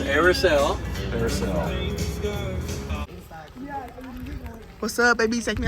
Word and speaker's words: Airis: So it's pronounced Airis.